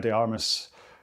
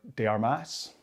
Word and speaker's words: de Armas: it be lovely if Anna de Armis um or de Armas she really learned how to pronounce her name if she is going to be the future Mrs.